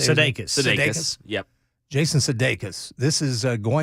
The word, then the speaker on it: Sudeikis: Sudeikis.